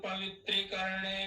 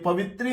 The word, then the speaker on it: पवित्र: चंदा कुमो देवता आस पवित्र विनियोगा एक एक शब्द का ध्यान देंगे पवित्री नहीं है पवित्र पवित्र पवित्र करण पवित्र